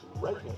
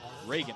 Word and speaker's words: Reagan: Number 2, Regan Hunter. Reagan Hunter, excuse me.